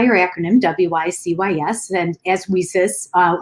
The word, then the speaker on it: WiCyS: acronym w-i-c-y-s and as we sis uh which is like pronounced like we sisters and so we're a